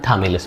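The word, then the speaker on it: Chthamalus: इसमें सी H silent होता है। क्या होता है? हिंदी भी लिख दे रहे हैं हम। थैमिलस थ थमलस बोलते हैं इसको।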